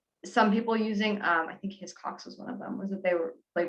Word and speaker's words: Hiscox: Hiscox.